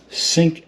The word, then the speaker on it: Cync: is going to be called the sync app and it's spelled c y n c and there it is